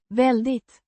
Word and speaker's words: väldigt: Pronounced. Väldigt. With a stress on the first syllable.